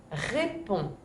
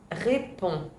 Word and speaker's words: réponds: A ningún momento estamos escuchando la D, pero la D aquí está.